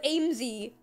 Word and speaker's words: Aimsey: okay just made me giggle it's obviously with aimsy is my name but obviously when you if